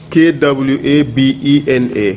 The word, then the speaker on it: Kwabena: K-W-A-B-E-N-A.